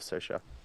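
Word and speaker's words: Saoirse: am all about that I love sersha who is you don't know who ssha it's spelled like s o a r well God s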